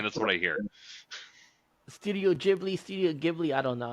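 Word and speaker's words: Ghibli: ] GIF okay because I always hear Studio gibli not jibli oh okay you wrong I'm just saying that's what I hear studio jibli studio gibli I don't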